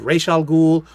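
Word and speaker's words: Ra's al Ghul: down below but um i ross algul like kind of r-o-s-s that's how you spell uh you you pronounce it um but i've heard it called rachel ghoul it's however you want to pronounce it but these are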